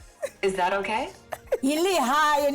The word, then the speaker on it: Lehae: Enkosinging Shosho Ebisinayo, Kubekani Nokubukela, ISABC, Livawani. Is that okay? Lihaye, not Livawani. Lihaye.